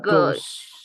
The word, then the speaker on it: goes: It goes. It goes. Very good. Aquí no pronunciamos la E porque anterior a la ES hay una vocal. Por eso decimos it goes. No se aumenta sílaba al pronunciar.